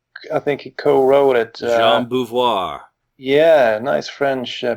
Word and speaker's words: Jean Beauvoir: Jean Beauvoir. Yeah, nice French pronunciation there, yeah.